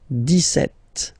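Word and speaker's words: dix-sept: it's clear but then for the pronunciation deset okay so you don't insist on the deset deset deset okay then so you will make this little link between the two the okay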